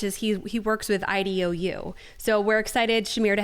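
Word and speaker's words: IDEO: how you say it so it's actually Ido um yeah like e ye yes uh and this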